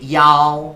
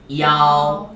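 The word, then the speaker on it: 幺: 다음에 전화번호 같은 거 얘기할 때 야오. 발음 시작. 야오.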